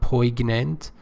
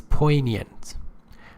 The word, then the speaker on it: poignant: Pay attention, G is not pronounced here. It's not poignant, it's poignant.